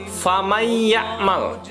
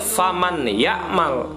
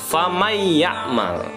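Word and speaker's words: فمن يعمل: Contoh, famay ya'mal mithqala dzarratin khairan yarah. Nabi ulangi, famay ya'mal. Jadi bukan faman ya'mal, tetapi nun matinya tidak lagi dibaca, melainkan langsung masuk ke huruf idghamnya. Famay ya'mal, bukan faman ya'mal.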